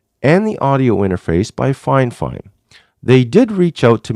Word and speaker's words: Fifine: Yes, it's pronounced Fifine.